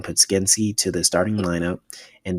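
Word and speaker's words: Podziemski: made the lineup changes, adding Podensky, make sure I say his name right, actually, adding Podskensky to the starting lineup.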